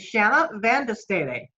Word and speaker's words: Shanna Van De Stede: belgium a high school freshman her name is shanna vandestadi did i pronounce that correct shanna yes you did okay